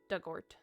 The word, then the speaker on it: Dugort: Pronunciation dug like the past tense of dig. Orort rhymes with hurt. So dugort.